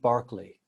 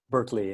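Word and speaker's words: George Berkeley: and a poet called George Barkley in the British Berkeley in in in the American pronunciation and he one of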